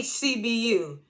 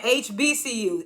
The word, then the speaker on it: HBCU: She keeps saying HCBU. And he keeps saying HBCU.